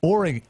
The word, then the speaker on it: Oregon: How's my friends up there in Oregon? You got to say it right, though. It's Oregon.